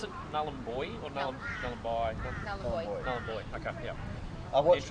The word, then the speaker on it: Nullarbor: So Gove is the boat club there we Nullarbor, stay at.